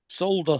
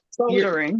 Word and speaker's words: solder: Solder. Solder. Oh, Soda. Solder. Solder. Yeah. Soldering. Yeah. Are you asking why we don't pronounce the L in the word solder?